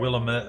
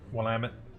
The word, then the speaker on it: Willamette: Looks like they're just down right off the Willamette River. That's all you need. Or right Willamette, or depends on who you talk to for pronouncing, but Willamette.